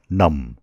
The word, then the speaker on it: numb: हात खुट्टा इत्यादि निदाउनुलाई भनिन्छ numb. My legs are numb. मेरा खुट्टाहरू निदाएका छन् My legs are numb. यो शब्दको उच्चारण हो numb. Numb होइन numb. B को उच्चारण हुँदैन numb.